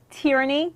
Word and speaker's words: Terrinee: talk about that let's talk about the book pronounce your first name for me tyranny good so I would have said it right